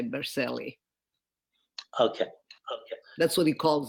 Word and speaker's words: Berceli: So it's spelled Bercelli, but being that we are American, we say Berceli.